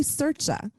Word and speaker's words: Sercia: it before we start it's actually sercha sercha with a chest yeah yeah it's italian no thank you go